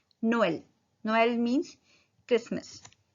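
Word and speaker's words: Noël: अब ट्रेमा ई पे लगा है तो इसको कैसे प्रोनाउंस करेंगे? नो एल, नोएल। हम एम्फेसिस करें अलग अलग वॉवल्स को। नोएल, नोएल means Christmas.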